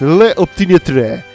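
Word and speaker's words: L'Opiniâtre: Vamos a pronunciarlo como en francés. Le Optimiatre.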